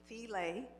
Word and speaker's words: Thela: My name is Thela, rhymes with relay.